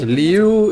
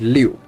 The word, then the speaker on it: Liu: The way you pronounce Liu is the Anglo-Saxon way of pronunciation. In Chinese, it's Liu.